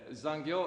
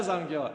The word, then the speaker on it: 残業: estudar o idioma, mas eu comecei a pronunciar de acordo com o que está escrito. Então, a palavra zangyo quer dizer hora extra. Então, mas estava escrito assim, zangyo. Então, eu falava zangyo. Não é zangyo, zangyoですね.